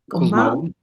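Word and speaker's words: Cosmao: ¿Cómo se pronuncia? Cosmau.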